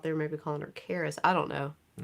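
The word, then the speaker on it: Creesjie: may be calling her Caris I don't know it's C re e e s j i e but that j i e is never yeah pronounced yeah he didn't sneak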